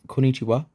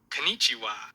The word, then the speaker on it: こんにちは: over your excellent pronunciation, be sure to honor the doubled consonant here. Listen to the example below to make sure you hear the difference between the correct pronunciation on the right and the incorrect pronunciation on the left.